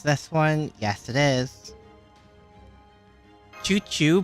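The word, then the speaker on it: chuchu: Choo choo, pronounced as shushu, is a Brazilian slang that you can use to refer to someone dear.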